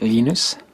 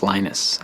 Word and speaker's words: Linus: I speak Swedish it's lus when I speak Finnish it's lenus when I speak English it's lonus and I really don't